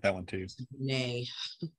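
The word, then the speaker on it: Brené: Oh, I love Brent Brown, Robin. Yes, clear as kind. Yeah, I like that one too. Brene. I always say your name wrong.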